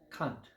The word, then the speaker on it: kant: for that is K it's actually a German word they pronounce it Kant and it means angle I might mention that